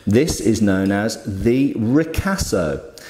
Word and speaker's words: ricasso: is known as the ricasso very particular word there obviously Italian ricasso so if this is